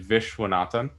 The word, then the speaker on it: Viswanathan: as we just mentioned your last name is pronounced i believe vishwanathan that's right you had mentioned to